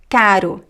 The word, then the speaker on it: caro: It's more like quick. Caro, América, amarelo. R, r. It's very similar to the flap t in English like in the word water, r, r, r.